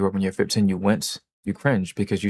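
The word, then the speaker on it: Nguyen: It's pronounced Win. I found out recently that it was pronounced Win, I think.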